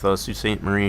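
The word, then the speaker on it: Sault Ste. Marie: A lot of people that are not familiar with Sue Staint Marie here in Michigan, they always say it wrong when they see it spelled.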